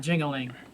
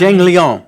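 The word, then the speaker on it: Jingliang: Like, we know it's not Jingling. But that Lee Jingling is Jingling to us. It's Zhang Liang, but sometimes I say I call him hazmat.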